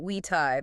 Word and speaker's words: vitae: Yes, in classical Latin, so the way that Cicero or Caesar would have actually spoken, the letter V was pronounced like a W.